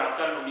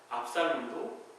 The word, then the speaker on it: 압살롬: 아들 압살롬, 이 발음을 잘해야 되지만 욕 같잖아요.